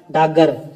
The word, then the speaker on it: डाकघर: होता है बताइए डाकघर यहां पे डाकघर का स्वर लोप के कारण हिंदी में उच्चारण होता है तो क्या होता है हिंदी में उच्चारण तो हो जाएगा डागर क्या हो जाएगा डागर